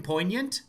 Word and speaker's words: poignant: Does anyone pronounce the G in poignant?